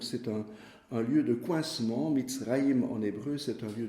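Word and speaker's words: מצרים: Alors l'Égypte, en hébreu, ça se dit Mitzraïm.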